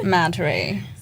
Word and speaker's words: Madhuri: Madhuri.